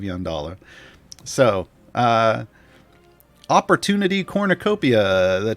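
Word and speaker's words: Yondalla: at here is uh what i commonly mispronounce as the yuck of londola and it's the luck of young dollar so uh opportunity cornucopia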